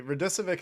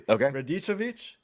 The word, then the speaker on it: Radicevic: When we were talking to Steve Radicevic, actually, Radicevic is the American pronunciation of his last name. It's actually Radicevic. Oh, wow. And that's how I wanted to pronounce it. I thought it was Radicevic, but it's Radicevic.